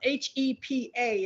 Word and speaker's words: HEPA: help of being um h e p a is what i'm saying the h the e the p and a are acronyms but it's pronounced hepa and hepa filters are